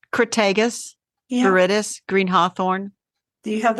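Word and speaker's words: Crataegus viridis: Because I don't want to pronounce that word. it's Crataegus, Yeah. viridis, green hawthorn.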